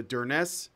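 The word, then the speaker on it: Durness: when he moved to der Ness is how you say it yeah Dern s okay one of the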